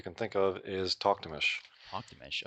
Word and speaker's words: Talktamish: Talktamish. Okay, that's how you say it, because I had no idea how to say it. I've heard every pronunciation you can think of. It's Mongolian.